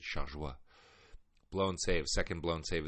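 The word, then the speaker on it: Chargois: involved in the decision JT shaguar as they say on American television I prefer to pronounce it shaja blown save second blown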